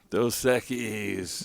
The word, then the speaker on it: Dos Equis: Dos Equis.